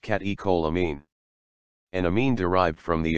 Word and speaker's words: catecholamine: catecholamine pronounced catecholamine an amine derived from the amino acid tyrosine